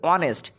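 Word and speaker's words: honest: এন বসবে তারপর দেখ অনেস্ট এইচ এর উচ্চারণ হচ্ছে না হনেস্ট হচ্ছে না অনেস্ট কিন্তু ও এর উচ্চারণ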